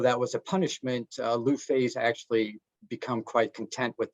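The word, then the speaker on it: Lu Fei: write about sure uh his name is Lou Fay which I chose uh because I thought it would be easy to pronounce for people who haven't studied Chinese just just like it sounds luffey all right and he's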